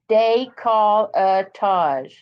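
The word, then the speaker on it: décolletage: Am I saying it wrong? Decolletage? No, but it's just the. Oh, she's telling me how to say it. Exactly. Decolletage. There you go.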